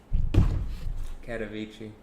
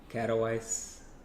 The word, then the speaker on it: Katowice: So, Katowice. Right, I think that's how you pronounce it. Katowice.